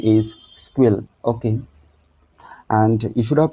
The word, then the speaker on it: SQL: this structure query language actually it is called squeal actually the pronunciation is squeal okay and you should have to know that